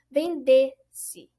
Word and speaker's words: vendesse: E a sua sílaba tônica fica evidente na sílaba vendesse.